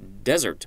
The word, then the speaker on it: desert: hey future Spencer here the word is des ERT and normally that would be desert but in this context I believe it is actually desert as in a deserter and now back to